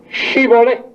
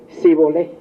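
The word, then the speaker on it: Shibboleth: Digan Shibolé. Y los de Efraín no podían pronunciar eso y decían, "Si volé.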